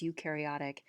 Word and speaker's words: eukaryotic: cilia prokaryotic cells versus eukaryotic so prokaryotic means they don't have a nucleus eukaryotic means that they do have a nucleus so euk rhymes with nuke pro rhymes with no um so yeah a